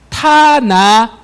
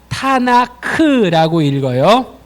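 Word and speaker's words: תנ״ך: 그래서 타나드가 아니라 타나크라고 읽어요.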